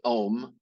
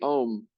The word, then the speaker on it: Om: Because when we intone that syllable, it's actually 3 syllables. But when we do that, when we say the Om, our whole body cavity starts to vibrate.